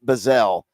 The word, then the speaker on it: Bazzel: I think it's m I think it's pronounced bazelle but it's b a zz l pretty darn close I